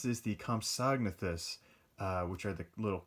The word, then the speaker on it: Compsognathus: uh and i finally figured out how to pronounce this the compsognathus uh which are the little compies that i